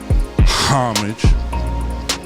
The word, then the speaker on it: homage: said in the comments you're not supposed to say the H you don't pronunciate the H homage and we about to